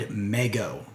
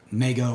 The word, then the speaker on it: Mego: Joe brand and Mego. They did the following crossover set of Snake Eyes and Storm Shadow, and we're going to talk about it today. Right, so if you are unfamiliar with Mego or Mego, however you want to pronounce it,